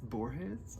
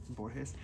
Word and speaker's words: Borges: Borges? I think that's how you pronounce it. Borges.